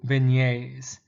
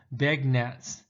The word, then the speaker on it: beignet: i might offer you beignets now the word looks like it's going to be pronounced beg nets but beignet is got a french creole sound to it and what it consists